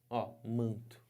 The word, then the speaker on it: manto: se não isso aqui é a transcrição fonética manto Vejam Só que que aconteceu esse n aqui